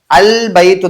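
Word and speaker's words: البيت: இந்த பக்கம் போவோம் பாருங்க இந்த இடத்துல அபைத்துன்னு சொல்ல முடியாது அல் பைத்து தான் வரும் அப்ப இல் அப்படிங்கறது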